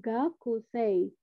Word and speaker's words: gakusei: lagi sama ya ini gakusei gitu nah sebenarnya ini cara bacanya adalah gakuse gakuse panjang di e nya kira-kira seperti itu paham